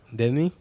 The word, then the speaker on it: Demmy: El día de hoy tenemos, me complace tener a la doctora Demi. Se pronuncia así, ¿verdad?